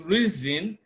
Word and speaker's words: reason: Option A is reason. Even though we have S, the S in reason is pronounced Z.